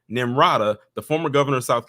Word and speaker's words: Nimrata: As Trump looks to defeat his primary rival nimada rhawa in South Carolina the Senator's home state in late February the hate I'm sorry almost said her name wrong nimrata the former governor of South Carolina appointed Scott